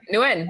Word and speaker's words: Nguyen: How do you say it again? Nguyen or is it Yeah, Nguyen? that was right. Nguyen.